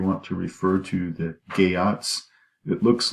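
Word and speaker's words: Geats: clan whatever you want to refer to that gay aughts it looks like it's pronounced Yeats but it's gay Ott's and of a hero Bale obviously who seeks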